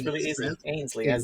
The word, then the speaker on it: Ainslie: I think I butchered it last time. Ainslie, right? No. Not Sorry, at all. I didn't even. No, not even close. Okay, you tell me. Ainslie. Ainslie. Yeah, it's really easy. Ainslie.